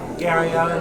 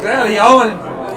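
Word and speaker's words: Garryowen: Gary Allen, as you might call him, Wolfgram made a good effort of it, but I don't think you've got to do the old Welsh pronunciation. The Gary Owen, Journal over Rugby.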